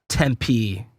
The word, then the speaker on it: Tempe: You know, it's like it's a little You say Tempe or Tempe? Tempe. Yeah, Tempe.